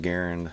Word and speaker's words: Garand: I've seen a lot of videos on it, and he liked to have his name pronounced Garand, so that's how I'm going to say it.